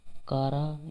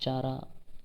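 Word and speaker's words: Chara: कारा या फिर चारा, आप दोनों तरीके से इसको प्रोनाउंस कर सकते हैं।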